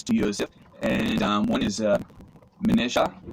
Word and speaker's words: Manasseh: He gives Joseph a wife, and she bears 2 sons to Joseph, and one is Manasseh, or you may hear Manasseh, but it's pronounced Manasseh, I believe, and that means causing to forget.